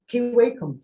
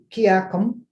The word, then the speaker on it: Kiwakum: So, Kiwakum, say, that's how it's pronounced today. Mhm. I've heard it, Kiakum, Kiakum, Kiwakum.